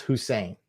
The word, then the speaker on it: Hussein: It's pronounced Hussein. That's how you pronounce my name.